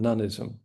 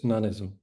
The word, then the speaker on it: noneism: It's like the English word none as in uh I'll have none of it and you just stick ism on the end. Okay, so it's noneism. Um noneism is the view that some things don't exist.